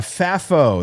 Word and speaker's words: FAFO: Austin, uh, Fafo, that's how we're pronouncing it here.